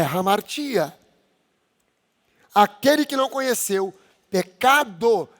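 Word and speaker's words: ἁμαρτία: Essa palavra pecado, no grego, é hamartia.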